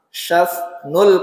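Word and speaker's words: شثن: Kemudian syas ya, bacanya agak sulit nih, shin sama sa ya. Syas nul kafaini wal qadamaini ya, kedua telapak tangan dan kaki beliau tebal.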